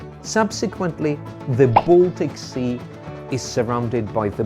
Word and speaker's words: Baltic: let it be the Baltic Sea the thing is when a and L come together they are usually pronounced all subsequently the Baltic Sea is surrounded by